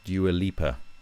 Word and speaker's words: Dua Lipa: And so, and like, look at the biggest one, like, no one, Calvin Harris with Dua Lipa, that's how you say her name.